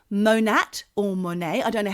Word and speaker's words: Monat: Then there's something, Michelle, which you might be interested in, called Monat or Monet. I don't know how you pronounce it. It's Monat.